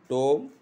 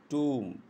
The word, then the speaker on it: tomb: Comb, plumber, settle, debt, climb, dumb, lamb, limb, bomb, thumb, numb, tomb, not tome. It is tomb.